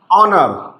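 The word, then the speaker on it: honor: चलिए एक वर्ड लेते हैं, जैसे एक वर्ड लिया मैंने, ऑनर। क्या लिया मैंने, ऑनर। अब देखिए पहला अक्षर एच है और ये साइलेंट है, इसका प्रोनाउंसिएशन आएगा हा, लेकिन हम बोल रहे हैं ऑनर, ऑनर।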